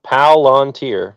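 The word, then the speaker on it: Palantir: Um, it's one word, three syllables. Palanteer.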